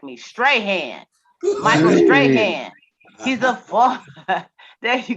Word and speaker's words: Strahan: Oh, Strahan. Strahan. Excuse Listen me. that. Correction. Yeah. Strahan. Y'all need to be louder next time and correct me. Strahan. Michael Yeah. Strahan.